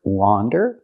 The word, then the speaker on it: wander: so we have the first word wander with the open sound like hot and stop and we have the